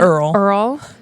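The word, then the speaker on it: Errol: Earl. Okay, it's spelled different.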